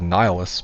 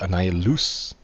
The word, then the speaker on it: Annihilus: I know, I call it Nihilus, but other people call it Annihilus. Kinda like it's loose.